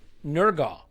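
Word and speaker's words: Nørgaard: Tomorrow though, over on Patreon, we will have a very special episode about Christian Nurgal is what I'm reliably told is how you pronounce that.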